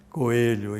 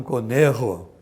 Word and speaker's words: Coelho: Ele era argentino, mas era chamado Jaime Coelho, e não Conejo, como se fala em espanhol.